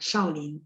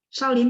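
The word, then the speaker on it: 少林: Iya, yang 4. Shaolin, 对. Shaolin tahu? Tahu ya, kalau suka nonton pasti tahu. Shaolin ya. Shao nada 4.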